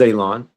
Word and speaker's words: Elon: end but but saying my name is Elon. Pronounced like you're going to cut grass, like you're going to cut a lawn. It's not spelled that way, but it is pronounced that way.